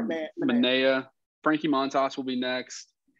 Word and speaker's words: Manaea: They traded is it Maeda? Is that how you say it? Manaea. Sorry, Manaea.